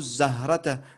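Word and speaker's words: الزهرة: Soit tu continues, tu dis Salimun yarsumu zahrata. Et là, tu vas pas prononcer le alif. Parce que c'est une shamsiya, donc tu passeras directement au zay.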